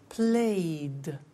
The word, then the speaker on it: played: So, the pronunciation of ed becomes D. It becomes played. Again, we eliminate the E. We say played, cleaned, studied, closed, snowed.